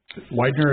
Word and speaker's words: Widener: Widener is correct pronunciation? Thank you, sir. Unless you were German, it would be Weidner.